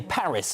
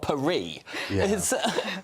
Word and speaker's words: Paris: and start up and we say Paris not perie I just point to